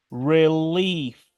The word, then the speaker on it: relief: escuchemos de nuevo If relief si se dan cuenta aquí la e no se pronuncia y la i se pronuncia como una I genius genio sodium en